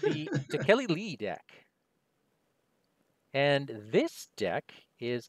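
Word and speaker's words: Tekeli-li: Wait, how did you pronounce that? Is it Takeli Lee? That's how you use it. Okay. I assume it's like that. I would say Tekalili, but that's me.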